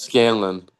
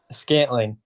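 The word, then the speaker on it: Valdes-Scantling: what's the how do you What's pronounce his his name? name? Marquez Valdez Scantling. What's his Marquez first name? Valdez Scanlon. Marquez Valdez Scanlon. Should we final it? Scantling.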